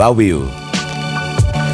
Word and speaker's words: Viu: สวัสดี ครับ Viu อ่าน ว่า วิว เต็ม ปาก วัน